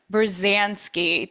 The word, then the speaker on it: Berzanski: Berzanski, did I say it right?